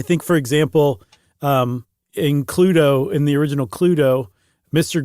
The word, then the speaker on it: Cluedo: Uh they named it Cludo like you said, spelled like Clue with DO at the end.